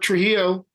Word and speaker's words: Trujillo: like so I'm walking and then there's Robert Trujillo yeah is that true hell you said it